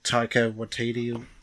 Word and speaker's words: Taika Waititi: And Taika Waititi, if that's how you say it.